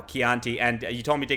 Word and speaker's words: Chianti: And like a Chianti, which I used to say wrong on purpose just to make people mad. But I'm saying it right now, Chianti.